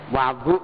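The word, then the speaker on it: وضوء: waduakum tempat wudu kalian Wadu bacanya bukan wudu Wadu tempat wudu yajmaullahu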